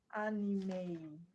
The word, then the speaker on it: anime: The word is pronounced anime. A. It has a sound at the end. A N I M E is pronounced anime.